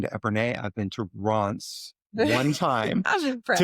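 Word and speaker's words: Reims: That to us sounds like rams.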